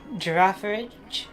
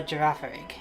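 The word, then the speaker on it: Girafarig: So, you got to pronounce the final G as a almost like a J.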